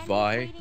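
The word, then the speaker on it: Vay: No, I was talking about Vi, or V-A-Y. It's actually pronounced Vi.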